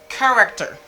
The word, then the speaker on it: character: technology technology technology okay after technology we have character character character character character character technology character eighth